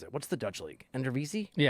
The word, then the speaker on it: Eredivisie: And there's like Ricardo Pepi just finished I think second or third in goals in the I can't pronounce it. What's the Dutch league? Eredivisie?